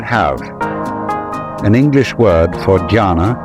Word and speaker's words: jhana: So then, this word Zen is Japanese way of pronouncing the Chinese word Chan, which in turn is the Chinese way of pronouncing the Sanskrit word jhana.